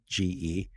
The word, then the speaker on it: CHAINge: But change is spelled CHAINGE. So like supply chain, but also change.